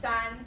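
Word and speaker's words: 山: we were using to this day and it's pronounced son what if he ox for me yeah and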